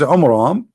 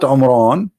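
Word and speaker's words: Amram: So Muhammad, he could not even copy the name correctly from the Bible about the father of Moses, which is Umram, not Umran. Imram. Wrong pronunciation, wrong name.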